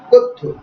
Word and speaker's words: কথ্য: বানান ক থ জ ফলা, উচ্চারণের বানান ক ওকার, থ হসন, থ ওকার, উচ্চারণ কথ্য।